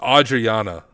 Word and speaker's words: Adriana: It's Adriana. Okay, I was saying it wrong.